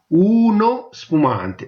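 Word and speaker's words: uno spumante: Okay, ஊனோ ஸ்புமாந்தே, ஊனோ ஸ்புமாந்தே. ஊனோ வடிவா உச்சரிக்கணும், ஊனோ ஸ்புமாந்தே.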